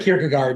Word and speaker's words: Kierkegaard: You can say Kirk Guard, that's fine.